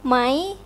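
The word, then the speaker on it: ไหม: This is rising tone. This is the formal and the correct way of pronouncing this word. But in a spoken Thai, sometimes it's become mai. Mai. Mai. Mai. Change to high tone.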